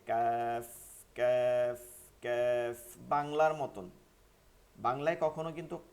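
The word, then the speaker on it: ك: আসছে কিন্তু দেখছেন তো এই বরাবর তালুতে লাগাইয়া উচ্চারণ করতে হয় নরম আওয়াজে কাফ কাফ কাফ বাংলার মতন বাংলায় কখনো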